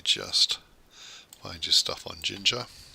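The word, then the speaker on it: Jinja: Let me just find your stuff on Ginger. So Ginger, spelled like ninja.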